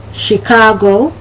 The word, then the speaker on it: Chicago: Chaperone, Chicago, chapeau, shanty.